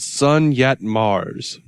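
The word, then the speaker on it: Sun Yat Mars: spell that name sake sun as in the sun yacht or yat y-a-t and then mars is in planet mars okay sun yet mars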